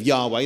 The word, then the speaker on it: Yahweh: against many aspects of Yahweh. That's the name for the Jewish God, at least according to many people. That's the correct pronunciation of the name that you're not supposed to pronounce.